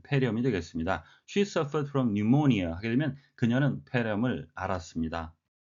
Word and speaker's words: pneumonia: pneumonia, P는 묵음이 되겠습니다.